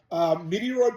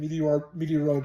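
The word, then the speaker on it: Metroid: you're probably wondering why I pronounce the game Meteoroid. I implore you to check out my friend Monado Max at his channel, Monado Max. And his friend Luke told him that game was pronounced Meteoroid.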